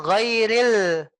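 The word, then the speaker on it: غير: ya nanti kita pelajari jadinya ghairil biarkan dia Ril hidupil giril Ril terus ya ril R terus r gitu ya ya seolah-olah kita ingin ini bu r w real seolah-olah kita mau Senyum kita bentuk senyum ghairil begitu kita sudah bisa senyum itulah il oh ya iya giril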